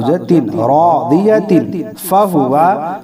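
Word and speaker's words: راضية: ता दो ज़ेर तीन, रादियतिन, फ़हुवा फ़ी ईशतिन रादियह। जब हम यहाँ वक्फ़ करेंगे तो रादियह पढ़ेंगे, ठीक है।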